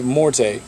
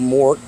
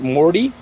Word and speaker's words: Morte: absolute darkness and again the name is morte or more however you want to pronounce it if you pronounce it Morty I'll punch you in the throat cuz that's [ __